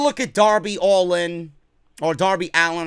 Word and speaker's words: Darby Allin: at Darby Allin or Darby Allin. I keep calling him Darby Allin because that's the way it's spelled. I got to get used to saying Darby Allin.